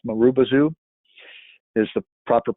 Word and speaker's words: Marubozu: But it's pronounced Marubozu is the proper pronunciation of it.